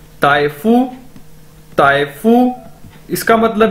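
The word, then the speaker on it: 大夫: इसी तरह दोस्तों ताइफू का मतलब भी डॉक्टर है, डॉक्टर है। डी को हम चाइनीज के अंदर ते के तौर पर प्रोनाउंस करते हैं, ताइफू, ताइफू इसका मतलब भी डॉक्टर है।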